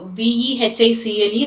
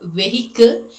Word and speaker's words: vehicle: And v e h i c l e, that is vehicle. It is not vehicle, it is vehicle. So, you should have the pronunciation of v i sound.